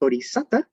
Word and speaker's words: bodhisatta: So in early Buddhist schools, as well as in modern Theravada Buddhism, a bodhisattva, in Pali, this is pronounced bodhisatta, refers to anyone who